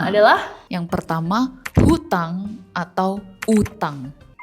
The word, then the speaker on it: utang: Kata yang pertama adalah yang pertama hutang atau utang hutang. Betul enggak? Bukan. Di KBBI yang benar itu adalah utang. Enggak pakai H. Utang.